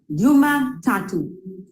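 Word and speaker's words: Jumatatu: those of you who don't know how to spell it it's j-u-m-a-p-i-l-i so a new mapini yes you Monday is Yuma tattoo j-u-m-a-t-a-t-u tattoo is actually three is for you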